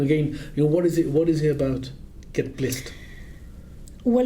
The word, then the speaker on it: Get Blissed: I've got to be careful with how I pronounce oh yes, Saf, it's with a B. Get Blissed.